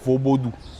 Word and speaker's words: Vodoun: Donc la bonne prononciation dans la langue locale fond, c'est plutôt vaubodou.